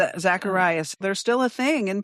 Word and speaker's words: Zacharias: Hold on, let me make sure I'm getting Am I pronouncing it correctly? Zacharias.